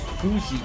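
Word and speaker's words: Fuxi: Veg says, how do you pronounce Fuji? Is it essentially Fushi? Oh, Fushi. Yeah, that would be... I thought about pronouncing that way because that would be the Portuguese pronunciation as well. Yeah, so it's Fushi.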